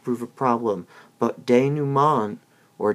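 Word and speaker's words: dénouement: of these will not prove a problem but de numan or da naumann is spelled d-e-n-o-u-e m e n t and that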